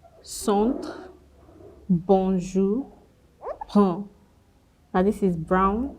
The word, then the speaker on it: bonjour: When you see AN, EN, ON, UN, now they're usually pronounced the same way. Banque, centre, bonjour, brun.